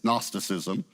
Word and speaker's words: Gnosticism: The G is silent. It's Gnosticism.